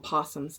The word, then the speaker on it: opossum: We call them possums, not opossums. So around here, you talk about possum. But there's still an O when we spell it. We spell it that way, but we say possum.